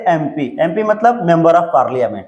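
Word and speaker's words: MP: तो देखिए एमपी जो है ये भले कंसोनेंट है लेकिन इसका उच्चारण कीजिए हिंदी में एम पी।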